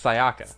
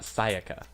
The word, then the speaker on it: Sayaka: they pronounce her name they pronounce it like someone who doesn't know how to pronounce Japanese names because it's Sayaka it's not Sayaka it's something I want